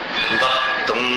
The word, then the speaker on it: वक्तुं: इच्छति जनः सहसा ग्रहीतुम् वक्तुं गुणान् गुणसमुद्र शशांक कांतान् वक्तुं, उसका उच्चारण जो तुंगी गिरी जैसे, मांगी तुंगी जैसा उच्चारण करिए।